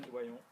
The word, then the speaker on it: Doyon: Should I pronounce it the French way or the American way? How do you say? Doyon? Is it all Doyon, right? oui. Is Doyon all right?